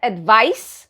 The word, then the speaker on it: advice: think you've understood that advice that rhymes with ice is a noun and you use it